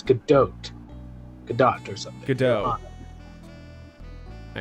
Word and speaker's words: Godot: Well then, Prosecutor Gobo. Oh, see, pronunciation Not for Gobo. you. It's Godot.